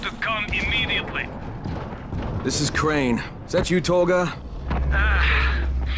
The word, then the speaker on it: Crane: store no my name's crane crane crane rhymes with train and brain and sane and grain and rain